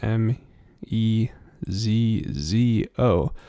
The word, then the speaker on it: mezzo: MF mezzo Forte and it's actually spelled like this m e z z o but sounds like met it almost sounds like mezzo uh like almost like there's a t in there but not quite um and then mezzo